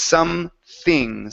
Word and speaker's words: something: Give me a TH sound instead of something. It's something.